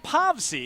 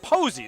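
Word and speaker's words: Povse: told us it was povsy the power has informed us it's pronounced posey so we're gonna go with max posey for the right-hander as with let's say buster posey but spelled a different way there you go so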